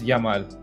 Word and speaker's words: Yamal: least, is Señor Lamine Yamal. Eric, is that how you pronounce it? No, it's Yamal. The thing is, like, in Argentina and Uruguay, they pronounce the Y as a She, so it's like, Yamal.